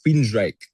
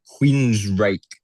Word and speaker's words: Queensrÿche: Oh, uh Queens Reich was the old band Jeff was in. Uh, Queens Reich. Queens Reich.